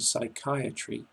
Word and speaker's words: psychiatry: In the words psychology, psychic and psychiatry, you must never sound the P.